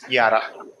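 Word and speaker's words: Jahre: Yara al this J is pronounced Y. Hence, yara.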